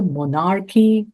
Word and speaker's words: monarchy: above was a monarchy of unfallen self, A monarchy, not monarchy, but monarchy. monarchy, No, accent mo- of monarchy. monarchy, No, not monarchy. That you're accenting the second syllable.